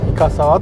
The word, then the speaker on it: 五十沢: これから行きます深沢っていうのはね 50の沢と書いてイカ触っと呼びますここもね混浴